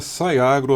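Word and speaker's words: Sci Agro: perfeito sai Agro né Escreve Sci mas é sai Agro a pronúncia correta eh obrigado por por fazer aqui o o a colocação aqui da pronúncia da sai Agro que é en xarqueada é sai por causa ele puxa o a palavra em inglês science começa com Sci Science Então como uma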